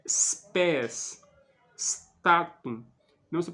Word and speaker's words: spes: né Por exemplo statum spés speculum não se pronuncia statum como se fosse um e no início da palavra não pode espes não se pronuncia assim né É spés statum não se pronuncia